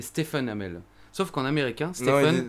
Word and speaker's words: Stephen Amell: uns mais aussi remarque fait remarquer qu'en dit pas steven amer mais stephen amell sauf quand américain c'est